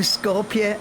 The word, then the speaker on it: Skopje: Good evening, ladies and gentlemen, and welcome to, hang on, I had to Google how you pronounce it. Skopje. Good evening, ladies and gentlemen, and welcome to Skopje Airport, North Macedonia.